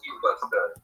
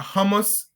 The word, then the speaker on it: humus: The appropriate name was humus. Humus, right? Exactly. But some people, and I kind of relate to it, feel like pronouncing it a hummus gives a better name, but humus is the correct terminology.